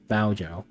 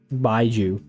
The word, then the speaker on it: Baiju: eliminating Honglu, Jia Beijiao, Baojiao. That's definitely not the right way to say it. Baiju.